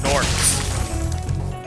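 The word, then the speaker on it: gnome: aren't people either they're norms as an orc but with a gn in the front and the g is silent sometimes ganache yeah i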